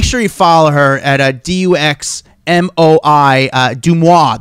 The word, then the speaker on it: Deuxmoi: Make sure you follow her at Duxmoi, Deuxmoi. That's how you say it, Deuxmoi.